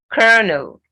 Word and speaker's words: colonel: archery then orchid orchid kernel colonel okay so it's kernel can you imagine i